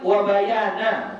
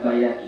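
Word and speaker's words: وَبَيَانَ: Wa bayani akmaliha wa aqal wa bayana, bukan bayani ya, wa bayana.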